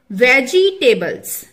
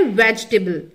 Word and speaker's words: vegetable: एंड the third word is सब्जियां, वेजिटेबल्स। ये wrong pronunciation है, सही प्रोनाउंसिएशन है वेजिटेबल, वेजिटेबल, वेजिटेबल।